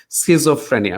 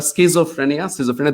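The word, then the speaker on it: schizophrenia: স্কিজোফ্রেনিয়া, উচ্চারণটা স্কিজোফ্রেনিয়া, দুটোই বলা যায়।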